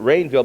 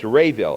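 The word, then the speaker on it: Raville: And David, I thought he pronounced it Rainville, but it's Rayville. It's Rayville, yeah. R-A? R-A-V-I-L-L-E.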